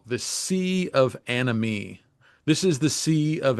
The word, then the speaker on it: anomie: probably, is what I call the sea of anomie. This is the sea of anomie, a turbulent, confusing, rollicking sea that we're all born into. Anomie is a French word, and it was popularized